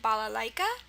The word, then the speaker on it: balalaika: Or maybe you've heard of the instrument balalaika, Balalaika, balalaika. Again, the I sound is spelled with an AI.